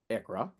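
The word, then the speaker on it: ICHRA: Um, TCJ A T CJ A Q S H A which is pronounced CUREA, IC which is pronounced ICRA, carry forward, NOL s employer pension plan credit, small employer health insurance credit, home office deduction.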